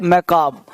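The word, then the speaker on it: macabre: अगला वर्ड हम लोगों का है वो है मैकाब। मैकाबरे लिखा है, पढ़ना है मैकाब, आर ही साइलेंट होगा।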